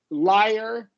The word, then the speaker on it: Liar: Liar is pronounced with the same kind of as fire, right? We're adding that vowel. Yeah, and wire.